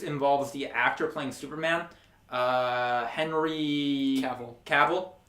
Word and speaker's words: Cavill: the actor playing Superman Henry Cavill I was going to say cable but that was mispronounced it or maybe I mispronounced again Henry Cavill um